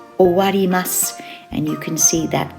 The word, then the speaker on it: 終わります: It's pronounced owarimasu, and you can see that kanji is the o part of that verb.